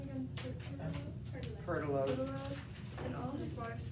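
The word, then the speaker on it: Pertelote: Now it befell as dawn began to spring, when Chanticleer and, how do you pronounce her name again? Pertolote.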